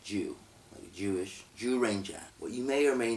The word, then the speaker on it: Zyuranger: yes it's spelled like zu Ranger but it's pronounced like jus Jewish jus Ranger what you may or may not know about